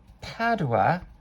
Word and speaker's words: Padua: Speaking of Italian, to sing it, and having studied Shakespeare, my understanding is that Padua is pronounced Padua, not Padua.